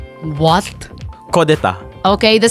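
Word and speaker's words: coup d'état: of the word is kodeta. What? Kodeta. Okay, the spelling is? It's actually borrowed from, I think, French word, and then it was adapted into English.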